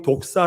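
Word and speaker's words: δόξα: 그 기본적인 의미는 뭐냐면 헬라어로 그 영광이 독사 라는 독사 라 올해 독사 복사 밴 독사가 아니라 독사 라 그래요 발음이 그것이 영광 이란 뜻인데 그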